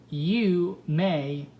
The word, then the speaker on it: Yume: Yume, pronounced Yu-Mei, was born and raised in Chinatown as a half Chinese, half American.